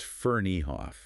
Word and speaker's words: Ferneyhough: Yeah, we've been looking at this really insightful article by Darren Ferneyhough, and just so we get it right, it's pronounced Ferneyhough.